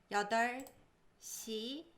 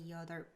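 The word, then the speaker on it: 여덟 시예요: We don't pronounce the 비읍. The B. Yeah. So we don't say you're dope. Yeah, we don't say 여덟.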